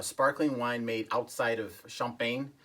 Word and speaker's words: Champagne: Number one is the Domaine Colon Cremant, which is a sparkling wine made outside of Champagne. The actual pronunciation is Champagne.